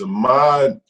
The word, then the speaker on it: Ahmaud: It is Ahmaud.